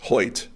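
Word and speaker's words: Hoecht: Michael Hoyt, is that how you pronounce his name? Yes. Hoyt for the Rams. Wild pronunciation given the spelling.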